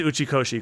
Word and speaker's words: Uchikoshi: you said it right you said it right it is uchikoshi kotaro uchikoshi uh that